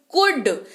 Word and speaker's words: could: एल को भूल जाइए, एल नहीं पढ़ना है, मतलब भूल जाइए मतलब स्पेलिंग लिखते वक्त नहीं भूलना है भाई, पढ़ते वक्त भूलना है। कुड, COULD पढ़ते हैं इसको कुड।